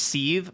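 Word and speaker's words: Sithe: It's pronounced seethe, like anger, like seethe, like court-ni-seethe, I can't figure out the pun.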